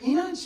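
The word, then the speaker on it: İnanç: sure that people always say my name wrong and it hurts sometimes you know like being called turkey boy whatever but the right way enanch means believe and because people can't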